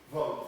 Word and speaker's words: Vogt: vote, V-O-G-T. Vote V-O-G-T? like V-O-G-T. Yeah. It's pronounced vote, like, why do we bother?